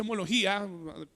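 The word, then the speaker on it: ὁμολογία: profesión mirémoslo es una palabra griega que significa homología o que se pronuncia homología o haciendo una trasliteración aquí al español qué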